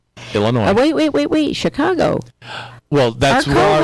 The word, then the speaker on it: Illinois: No, you don't pronounce the S on Illinois. It's Illinois. It's right. Not Illinois. Right. Although it's a noisy state, it's Illinois.